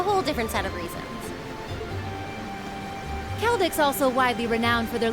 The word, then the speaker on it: Celdic: The next stop is Kelik. Kelik. See you there. For all you thought that I was pronouncing Seldic wrong.